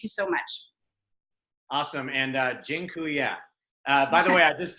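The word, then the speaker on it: dziękuję: so much awesome and Jin Kuya by the way I just taught you all the Polish word for thank you it's gin cool yeah that I'm not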